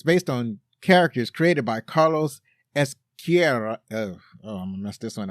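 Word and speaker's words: Ezquerra: It's that, in Spanish, you got to roll your R's in Spanish. So when you got two R's together, you really got to roll them.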